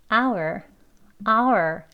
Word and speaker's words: our: 강조되어지는 발음. our 했죠?